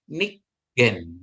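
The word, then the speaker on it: נִגֵּן: namanya pendua kalian ya jadi bacanya dia jadi G ditekan ya seolah-olah G itu jadi dua kali ya artinya nikgen ya jadi bacanya Nik gen ya Jadi dua suku kata ya dua suku kata atau dua silabel nikgen ya jadi artinya bermain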